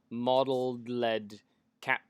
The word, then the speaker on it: Modeled Led Cat: My name's pronounced Modeled Led Cat because I work a lot with LEDs.